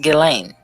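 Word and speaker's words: Ghislaine: spelled is g-h-i-s-l-a-n-e but she's english so the pronunciation is a little bit different than what it looks like it's actually pronounced galen so i think it's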